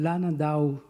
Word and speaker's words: Landau: Il aimait bien qu'on l'appelle Landau. C'est la prononciation.